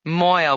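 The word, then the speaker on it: mohel: Moil, which is spelled M-O-H-E-L, is really a Yiddish word which has come into common usage in English.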